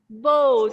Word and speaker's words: boat: And if there are two vowels, which vowel will be long? O. Yeah, O is long. And the second one is silent.